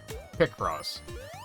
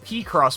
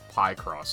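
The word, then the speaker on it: Picross: But yes, picture cross. Pick cross. I I forgive Pacross because that's probably the Japanese pronunciation. I don't know where the py cross came from.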